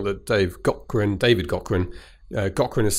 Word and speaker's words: Gaughran: an interview know that they've got Gwen David Cochran Cochran is spelled GA ugh are a and obviously you